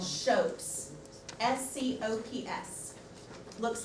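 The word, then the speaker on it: scop: it on the anglo-saxons Saxon poets were called shoats nco PS looks like scoffs pronounced shows those anglo-saxon shopes are the poet's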